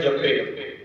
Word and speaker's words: जपै: गुरबाणी भी पाठ लां दे नाल करनी है तो उच्चारण है जपे, जे दलावां दे नाल करनी है तो उच्चारण है जपै।